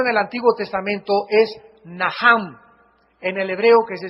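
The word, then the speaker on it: נחם: el Antiguo Testamento es naham en el hebreo que se escribe nachan la ch en el hebreo se pronuncia como j y significa cambiar la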